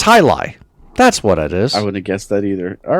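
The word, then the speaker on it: jai alai: So it's So it's spelled J A I A L A I and it's pronounced high lie.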